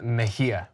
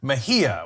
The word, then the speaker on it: Mejia: another California candidate in the 34th District, Kenneth Mejia. I'm sure I said that wrong. So I am the worst with names. Kenneth, how do you say the last name? Kenneth Mejia. Mejia.